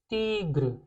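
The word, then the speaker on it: tigre: Okay, pronounce कैसे करेंगे? तीग्र। तीग्र क्यों? क्योंकि आई जो है हमारा ई जैसा प्रोनाउंस हो रहा है।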